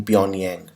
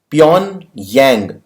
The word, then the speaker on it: Pyongyang: out a summit in pyongyang beyond yang G is silent here but okay you can pronounce it doesn't matter Pyongyang also you can